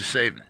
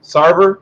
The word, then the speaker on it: Sarver: time um we have to talk about mr satan i think i pronounced it right sarver robert sarver sorry sorry yeah uh the uh